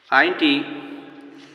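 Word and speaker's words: عين: আমরা আইনটি জেনে নেব আইনটি কণ্ঠনালীর মধ্য থেকে আসবে উঠে আইন আইন গাইন এবং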